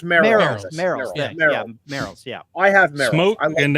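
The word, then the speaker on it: Merrell: by um they're by Morel no no no mer it's pronounced mer yeah I have smoke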